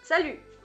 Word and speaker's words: salut: Tienes que decir una I pronunciando una U. Entonces, si dices U, está perfecto, ¿ves? Entonces, salut.